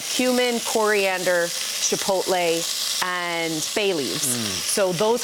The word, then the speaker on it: chipotle: Chipotle. Chipotle. Not chipotle. Chipotle.